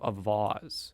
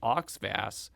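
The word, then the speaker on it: Auxvasse: A Twitter user named John Flavin and State Representative Travis Fitzwater both told me that I had pronounced it Oxvass, which is incorrect.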